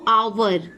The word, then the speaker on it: hour: जैसे अगर हम एग्जाम्पल की बात करें तो आवर, HOUR, आवर, honest, HONEST, honest. आवर आया ना, यानी कि इसके प्रोनाउंसिएशन में सबसे पहले क्या आ रहा है, अ आ रहा है।